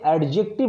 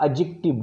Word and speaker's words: adjective: ऐसे ही एडजेक्टिव phrase, इसे एडजेक्टिव मत पढ़िएगा, एडजेक्टिव डी साइलेंट होता है, ADJECTIVE, एडजेक्टिव फ्रेज.